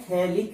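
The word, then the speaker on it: phthalic: इसका सामान्य नाम होता है थैलिक एसिड, थैलिक अम्ल, ये इसका सामान्य नाम होता है। यहाँ पर P साइलेंट होता है, तो थैलिक अम्ल इसका नाम होता है।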